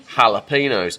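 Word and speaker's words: jalapeño: pork crispy bacon and jalapeno not jalapenos cuz there's no J in the Spanish language that's why if you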